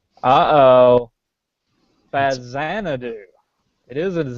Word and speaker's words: Faxanadu: it's pronounced uh oh fazan do it is a z it is the x is pronounced like a z because it was a